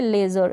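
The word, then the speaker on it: leisure: और ये है लेज़र, यहाँ पर भी हमने क्या है, ई आई को ए और ए के रूप में प्रोनाउंस कर रहे हैं।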